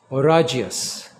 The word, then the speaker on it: oragious: have a synonym for stormy that kind of rhymes with the word oan and that word is oragas okay orus means stormy so under hurricane conditions you have an orious ocean when there's a hurricane in the offing